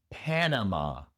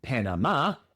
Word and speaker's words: Panama: Pero el acento va en la primera sílaba. En lugar de Panamá es Panama.